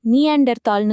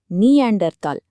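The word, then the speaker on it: Neanderthal: நாம பொதுவா நீண்டர் தாள்ன்னு சொன்னாலும் அதோட சரியான உச்சரிப்பு நீண்டர் தால். ஏன்னா அதோட முதல் படிமங்கள் ஜெர்மனியில இருக்கிற நீ அண்டர் பள்ளத்தாக்குல கண்டுபிடிக்கப்பட்டது. ஜெர்மன்ல பள்ளத்தாக்குக்கு தாள்ன்னு பேரு.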